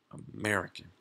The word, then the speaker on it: American: What about American? American. So those are four syllables.